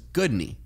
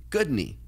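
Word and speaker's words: Guðný: name her name was good knee yep and everyone was asking how do you say that again I know I said bad knee good knee and immediately everyone remembered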